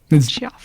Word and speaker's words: Geof: Jeff. Jeff. Jeff. Normally Jeff is spelled with two Fs, but it's only one, so it's Jeff.